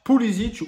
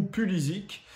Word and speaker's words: Pulisic: nationale des États-Unis, Christian Pulisic, Pulisic ou Pulisic, c'est les deux prononciations.